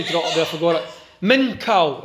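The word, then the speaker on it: מנחה: I was going to go there for all men cow it's pronounced men car which means tribute gift are offering nothing about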